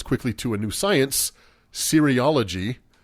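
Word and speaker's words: cereology: You say it sounds like serial. It's c e r eology.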